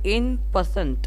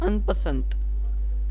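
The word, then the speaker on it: en passant: এইটাকে বলে এন পার্সেন্ট, অনেকে বলে আনপার্সেন্ট, ঠিক আছে? কিন্তু যদি আমরা এটা দেখি, এটা ENPASSANT, তাই জন্য এটা সোজা উচ্চারণ বলতে গেলে N% আসে। আনপার্সেন্ট বা N% এরকম অনেকগুলো উচ্চারণ কিন্তু রয়েছে, অনেকে সোজা করে ইপি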